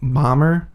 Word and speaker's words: Bomer: So it's spelled Bomer. I say like Bomber. It's probably like Bomer. It's probably Bomer.